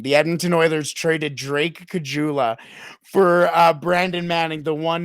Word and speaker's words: Caggiula: see where Drake Caggiula, the legend of Drake Caggiula, continues. I thought I said his name wrong. My dad used to always call him Caligula, like never got his name right.